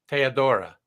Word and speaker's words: Teodora: it let's have a sound like a Romanian pronunciation of my name yeah Theodora teodora yes it's Air instead of E gotcha and